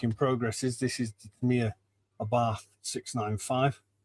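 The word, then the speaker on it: Abarth: This is Mia Abath 695. I'll pronounce it correctly for our Italian friends.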